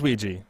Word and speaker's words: Ouija: a ouija board yeah so it is ouija hyper honey that's what i thought but it just sounds so weird because it's not it doesn't it's not spelled like that at all game piece borrowed from